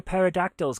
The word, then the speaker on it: pterodactyls: Dave Holloway says, why can't you hear pterodactyls go to the toilet? Because the P is silent.